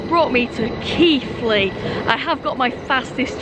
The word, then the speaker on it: Keighley: worth Valley Railway and I did always used to call this station Keely but I Now Pronounce it Keithley anyways I would actually